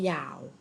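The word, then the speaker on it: 幺: บอก หมาย เลข โทรศัพท์ เขา จะ นิยม อ่าน ออก เสียง ว่า ยาว นะ คะ เขา ไม่ เขา เข้า ใจ ออก เสียง ว่า ยาว นะ คะ จะ ออก เสียง ว่า E ก็ ไม่ ผิด นะ ก็ จะ เป็น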